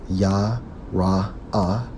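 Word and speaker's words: יָרֵא: According to the Hebrew, Strong's H3372, pronounced as Yah-Ra-Ah, which means what?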